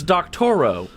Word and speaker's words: Doctorow: Oh, you don't know who that is because he spelled his name wrong. Oh, really? It's Doctorow.